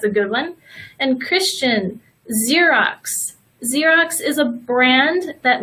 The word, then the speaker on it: Xerox: box and maximum but we also pronounce the letter X like of Z sometimes for example the xylophone so here is a perfect example Xerox it's got both Xerox can anybody think of